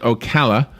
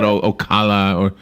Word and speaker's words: Ocala: if you're ever here i'll teach you it's pronounced ocala that's right thank you just like you taught me saint louis well a lot of people come here and they call it ocala you know they they mess up so we